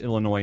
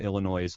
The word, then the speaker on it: Illinois: and Morgan were Illinois which I know it's pronounced Illinois not Illinois's but it rhymes with noise yeah all right